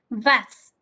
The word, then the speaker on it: was: Les voy a ir dando la pronunciación. ¿Sale? La primera es vas.